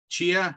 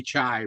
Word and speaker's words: chia: me chia chai yeah i want chia i want to say chai but chai is spelled with the letters the other way around right here so just like a chia pet yes is it uh